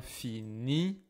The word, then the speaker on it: finit: On finit. As always, I don't hear the s. I don't hear the T et C.